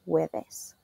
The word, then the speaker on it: jueves: Even though it's spelled with a J, we pronounce the J U sound as a W in Spanish, jueves.